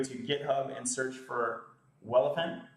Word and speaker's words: Welephant: You can go to GitHub and search for Welephant. That's spelled like elephant with a W.